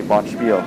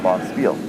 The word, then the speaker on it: Bonspieler: same but there's a there's a debate about how you pronounce bonspieler and it's not it's not german so you don't say botchfield it's boss field so that is the